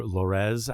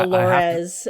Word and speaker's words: Lorez: Even you were asking about pronunciation of her name being short for Dolores, Yeah. but I've always just called her Lorez Alexandria. Mhm. Um so As opposed to Lorez Alexandria, yeah.